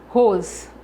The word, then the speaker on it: arroz: pronuncia com mais força com mais intensidade A arroz o ros é a sílaba tônica dessa palavra a outra sílaba é